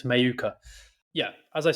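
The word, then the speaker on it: Mheuka: uh my number one is shim or shamaya mayuka which is how you pronounce his name apparently I've gone through many different ways but I think he's confirmed himself it's not maheka it's a it's mayuka yeah as I said I've taken a bit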